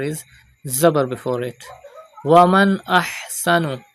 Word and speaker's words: أحسن: Waman ahsanu. Pronounce ha from the middle part of your throat.